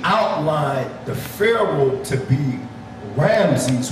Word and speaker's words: Ramses: Now getting back to this Napoleon guy, when he outlined the pharaoh to be Ramses, which in ancient Hebrew is pronounced Ra-Amash, we became caught up in the erroneous impression that it was Ramses the second of 1224 to 1290 BCE.